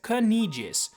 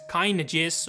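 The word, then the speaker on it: Caineghis: The lion king of the is known officially as Kijis, but I can't be the only one who thinks kynis or kynis or kynis are just as valid.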